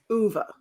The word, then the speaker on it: Ove: I know I'm just so curious cuz I mean I think it's pronounced Uva right? That's how they say it originally a man called Uva.